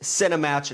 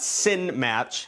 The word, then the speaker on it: Cinematch: And I'm a little upset cuz in parenthesis, uh, Jimmy wrote, "Note, this is pronounced Cinematch, not Sin Match."